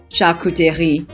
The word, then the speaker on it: charcuterie: may call it a grazing board or a charcuterie board by the way it's french for a store where cooked meat is sold and it's pronounced chakuteri but since there's no meat on here it's